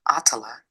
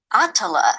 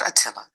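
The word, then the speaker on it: Attallah: first name for us my first name is pronounced atala atala not Atilla no certainly not not ayatolla I get it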